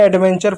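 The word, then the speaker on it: adventure: यहाँ पे स्ट्रक्चर पढ़ दिया हमने, एडवेंचर पढ़ दिया, नेचर पढ़ दिया, क्योंकि टी यू आर ई है। जब कभी भी टी यू आर के साथ है तो उसका उच्चारण चर के रूप में होगा।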